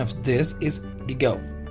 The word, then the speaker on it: gigot: But the pronunciation of this is gigot.